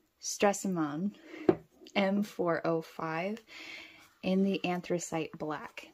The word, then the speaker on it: Stresemann: the anthracite black now I'm probably going to be saying suvaron and stressman that's pretty much what all of the Americans say is stressman instead of actually using a correct accent which I'm not really capable of doing so gorgeous packaging absolutely